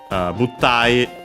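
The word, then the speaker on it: 物体: Buttai, unaccented, another Chinese compound. The but at the start is actually from butsu.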